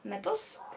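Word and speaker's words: Methos: o żonie mordercy od Wiktora metos tak to się wymawia nazwisko którymi zaintrygował w ogóle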